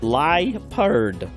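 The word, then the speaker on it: Liepard: it's pronounced pronounce lipari leappured or lipard i pronounce it lie perd oh well thank you a new discovery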